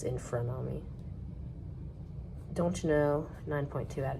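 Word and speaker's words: Infrunami: I keep on mispronouncing Infranami, sorry. As Infernami, but it's Infranami.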